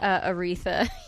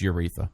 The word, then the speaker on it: Aretha: There's so much what I want to say right away whenever Aretha you mention I believe it's pronounced Euritha.